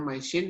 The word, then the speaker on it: MYCIN: Bukan micin ya. Jadi bacanya MySyn, ini untuk medical diagnosis of illness.